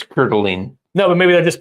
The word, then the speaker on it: Coeur d'Alene: When I moved to Coeur d'Alene, I lived in Coeur d'Alene for a while, everybody always referred to that state as Warsh.